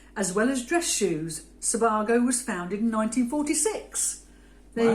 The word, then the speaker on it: Sebago: men's shoes and we're going for the brand Sebago I had to Google it to make sure